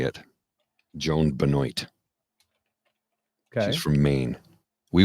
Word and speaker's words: Benoit: marathon was won by, this is how she pronounces her name, so I'll say it. Joan Benoit. Okay. She's from Maine. We would say Benoit.